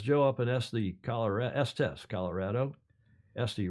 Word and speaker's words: Estes: Estes rhymes with testy. Estes, Colorado.